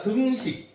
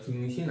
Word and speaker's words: 등식: 자, 우리가 등식에 대해서 조금 얘기를 한번 해보자. 발음 잘해야 돼요. 등신 아니야. 등식.